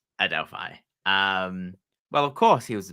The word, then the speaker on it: Adelphi: You're ruining my pronunciation by saying it's Aldefine.